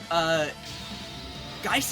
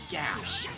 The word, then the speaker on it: Geis: Also, I'm still having to get used to the fact that apparently, Geiss is not the correct pronunciation. We just figured out that it's apparently supposed to be pronounced as Gash. And that has me up.